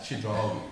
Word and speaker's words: Chidrawi: Chidrawi, that's how you pronounce it.